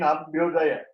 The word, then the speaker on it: Abhyudaya: Moksha, again Abhyudaya. It is not Abhyadaya, it is Abhyudaya.